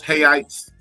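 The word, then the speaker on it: reais: um to the 500 so um 100 rails hites the money the money is R but it's spelled like real it's l literally spelled r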